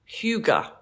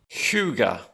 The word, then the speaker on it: hygge: to say it, and I've recently learned it's pronounced Hygge. Hygge. Hygge.